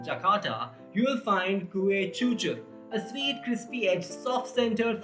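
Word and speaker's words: cucur: In Bahasa Indonesia and Bahasa Malayu, both written in Latin script, the letter C is pronounced as ch as in church. So though it is spelled cu, it is pronounced chuchu.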